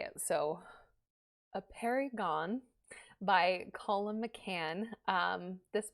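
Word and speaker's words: Apeirogon: So, A Perry Gone by Colum McCann.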